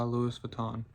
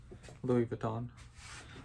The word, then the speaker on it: Louis Vuitton: Today I'm going to be re unboxing and reviewing Ombre Nomad by Louisis Vuitton or Louis Vuitton. I know you're not supposed to pronounce the IA. It's just Louis Louis Vuitton.